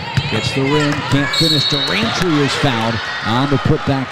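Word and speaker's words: Dwirantwi: Durantry. It's not as hard as it's spelled, but she is going to be a name that you're going to have to know how to spell.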